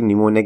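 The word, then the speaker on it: pneumonia: देखो basically निमोनिया की spelling में पी साइलेंट रहता है तो काफ़ी कन्फ्यूजन रहता है, तो बेसिकली ऐसे काम होने नहीं चाहिए।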